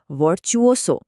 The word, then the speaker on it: virtuoso: শব্দটার উচ্চারণ হবে ভার্চুসো। চলেন একসাথে বলি।